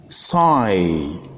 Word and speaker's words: sigh: is silent for instance the word s-i-g-h is pronounced PSI the word m-i-g-h-t is pronounced might and the